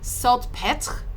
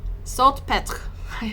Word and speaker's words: Salpêtrière: It's like Salpêtrière. Salpêtrière. I cannot do the R-E noise, like it's so hard.